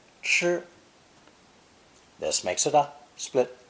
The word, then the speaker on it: 吃: of this character today, pronounced first tone, 吃, 吃.